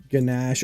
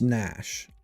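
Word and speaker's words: gnash: What's What's ganache or nash?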